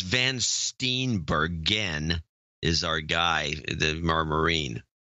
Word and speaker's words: Van Steenbergen: By the way, it's Van Steenbergen is our guy, our Marine. Oh, I mispronounced his name on the show.